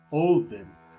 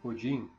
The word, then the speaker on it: Odin: Olden, ou como pronunciamos hoje, Odin, é o líder dos Æsir, a família de deuses principal.